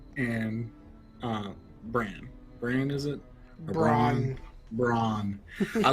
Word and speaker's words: Bronn: It's not Bran, it's Bronn.